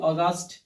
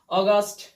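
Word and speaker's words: August: কেন তখন তাহার উচ্চারণ এ ইউ একসাথে থাকলে ও হবে এ ইউ এর উচ্চারণ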